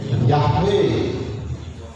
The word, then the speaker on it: Yahweh: Seperti YHWH, membacanya Yahweh.